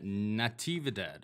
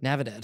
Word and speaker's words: Natividad: And finally, we were just talking about Brian Boom Kelleher takes on Kevin Natividad. Is that how I pronounce it? Navidad.